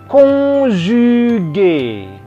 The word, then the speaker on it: conjugué: Yang kedua adalah verbe conjugué. Conjugué, C-O-N, on. On ke atas, bukan on. Ya. Bukan ke bawah, ke atas, on. J ketemu U, maka conjugué.